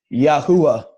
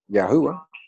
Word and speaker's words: Yahuwah: Even so, and then God you pronounce Yahuwah. Yahuwah.